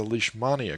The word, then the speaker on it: Leishmania: going to discuss the leash mania group today leash mania like as in i got you on a leash yes maria is i